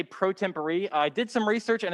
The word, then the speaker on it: pro tempore: will notice i didn't stutter i did say pro tempore i did some research and as it turns out we've actually been pronouncing it wrong the whole time uh it's latin it's pronounced pro temporary means temporarily uh for example like how the